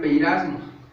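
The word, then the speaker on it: πειρασμός: Para nosotros en griego sería peirasmos, pero se escribe pirasmos, y significa un experimento,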